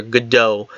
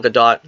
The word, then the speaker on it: Gadot: gadot or gal gadot I started to say Godot because so many people say that but her name is ash pronounced gadot because I've heard her say it herself and I sometimes slip into the you know the peer pressure of calling her good dough but really gal gadot so gal gadot looking